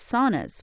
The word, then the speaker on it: sauna: He believes saunas, pronounced sauna in Finnish, are having a moment and he expects it to last.